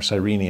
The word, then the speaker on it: Cyrene: He's from Cyrene. Or Cyrene, as it's often pronounced.